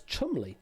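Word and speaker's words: Cholmondeley: Lieutenant and the tower and pronounced Chumley, believe it or not.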